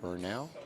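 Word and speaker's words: Franiel: F-R-A-N-I-E-L. Fernell. Yeah, like Daniel, but Fernell.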